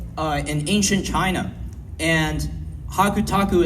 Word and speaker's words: Hakutaku: And hakutaku itself is just basically, you know, the same characters you see there, but pronounced in the Japanese way.